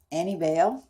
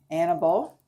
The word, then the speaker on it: Annibale: I think it's Annibale. It's A-N-N-I, which sounds like Annie. B-A-L-E. Annibale. Maybe it's Annibale.